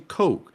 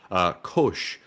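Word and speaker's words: Koch: And as far as I know, the CH in Coke is a sh sound. Kosh, like in Schultz.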